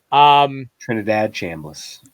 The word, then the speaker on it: Trinidad Chambliss: Ole Miss's offense with the guy whose name I can never pronounce correctly, Nate. Trinidad Chambliss.